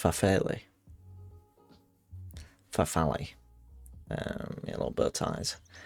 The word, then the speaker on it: farfalle: I might have had it in one of those like cheap little, pronounced farfalle.